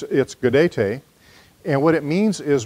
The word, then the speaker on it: Gaudete: I look at the word, I want to pronounce it Gaudete. But that's not how it's pronounced. It's Gaudete.